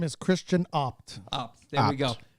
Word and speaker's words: Abt: His name is Christian Opt.